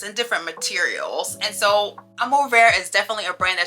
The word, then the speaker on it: Amour Vert: This brand is called Amour Vert, which means green love in French, but I'm gonna teach you the proper pronunciation today. It's Amour Vert.